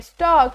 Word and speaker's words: stork: टी O blank के, स्टॉक एस टी ओ आर के, आर यहाँ पे साइलेंट लेटर है, एस ब्लैंक आर ए